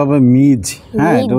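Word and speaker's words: Ms: মিস Smith মিস Smith নতুন ইংরেজি শিক্ষক এটার উচ্চারণটা হবে মিজ হ্যাঁ এটার উচ্চারণটা কি মিজ মিজ এমএস এ মিজ ওকে মিজ স্মিথ মানে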